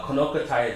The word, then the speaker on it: Kno'Qoti: the executive director of kokai native Wellness uh konai is the the the proper pronunciation for the mountain which means two old